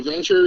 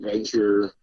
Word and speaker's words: Vennture: So Venture is founded by myself and two other guys, Jake and Rob.